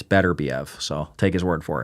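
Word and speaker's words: Beterbiev: for the longest time i' I've been saying BBV but I heard him say it and he says it's better Bev so take his word for it and bival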